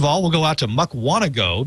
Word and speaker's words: Mukwonago: we'll go out to mukwonago because it rhymes with doe and talk to chris